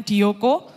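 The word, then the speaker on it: διώκω: situ saya kasih apa Huruf ungker-ungker gitu ya itu bacanya dioko artinya mengejar berlari-lari juga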